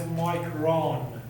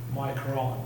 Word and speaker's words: micron: But because it's unique mass it's by itself is pronounced as micron rather than micro nothing micron. So when it's an intensifier when you say micrometer by unit you pronounce it as micro when it's by itself you pronounce it as micron.